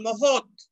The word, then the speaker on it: মহৎ: তাহলে ত এবং খণ্ড ত মূলত কি একই ধ্বনি, তাই কোন শব্দের বানানে খণ্ড ত থাকলে উচ্চারণ লিখে দেখাতে হবে হসন্ত ত দিয়ে, অর্থাৎ ত এর নিচে হসন্ত দিয়ে।